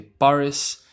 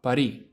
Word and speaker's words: París: Unlike English, where you say Paris, in Spanish you pronounce it París, with the S at the end, no París, París.